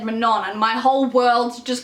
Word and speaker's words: Manon: called Manon gets introduced, but her name is spelt like Manon, and I spent ages pronouncing her name Manon and didn't realize it was pronounced differently until I watched an interview with the author and she said Manon, and my whole world